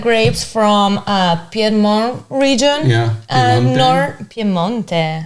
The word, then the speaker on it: Piemonte: Piemonte. Yes, Italian pronunciation.